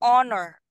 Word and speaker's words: honor: and D it hold okay this word is pronounced Joseph as say honor honor honor okay honors now which is the